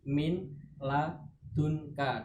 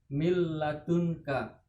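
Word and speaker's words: مِنْ لَدُنْكَ: ladun KYT milladunka mint Sebenarnya tadi Min ladunka tetapi nanya hilang masuk pada lampu mil ladunka Kemudian yang kedua selanjutnya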